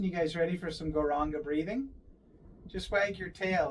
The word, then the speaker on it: Gauranga: Inhaling thinking of the sound goranga. Four syllables. And on the exhalation to the length of the breath, singing, saying, uttering, expressing, chanting the name goranga.